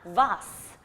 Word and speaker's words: vase: 꽃병이란 단어죠. 미국식으로는 vase가 되죠. 하지만 영국 성우는 발음을 어떻게 한다? vase, vase. 꽃병을 vase로 발음하는 영국 성우의 발음도 특이하니까 기억해 주시고 오답 처리.